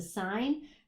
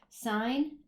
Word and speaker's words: sine: So if I grab my daughter's calculator here, sine is actually S-I-N. A lot of people think it's pronounced sin, but it's actually a shortened version for sine.